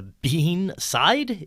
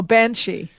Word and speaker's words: banshee: have here in your talking points is the bean side. Did I pronounce that right? Oh, Banshee.